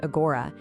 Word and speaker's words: agora: Well, the word itself, it's pronounced agora, is pretty simple.